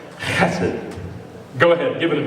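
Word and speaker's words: חסד: It's the word hesed. It's actually pronounced like you're hacking something up, right? Hesed.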